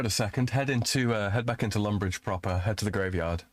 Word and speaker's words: Lumbridge: You're the one at Lumberge, yeah? Uh-huh. Mm-hmm. You see, Flags? He doesn't question it when I mispronounce Lumbridge.